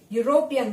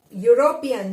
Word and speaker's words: European: Here, first letter E is, though it is vowel, but the sound is coming off a consonant Y. European, call it as European. So the sound of Y is coming out and Y is consonant.